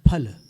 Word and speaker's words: फल: यहाँ पर फल नहीं बोलना है आपको, फल बोलना है। दोनों होठ मिला करके फल।